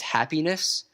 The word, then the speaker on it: Happyness: I'll certainly revisit, is Happyness. That is happiness spelled with a Y instead of an I.